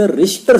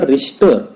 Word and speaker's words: Richter: किती रिश्टर स्केलचा भूकंप आहे तर त्याची नोंद त्या ठिकाणी आपल्याला आकृतीमध्ये 10.30 दिसते.